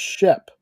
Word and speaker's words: Sheep: this was funny it's it's spelled sheep but it's pronounced Shep and I wanted to